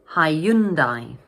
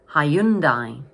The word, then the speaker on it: Hyundai: So this word has 3 syllables and the middle syllable is stressed. So in English we pronounce it Hyundai. Hyundai.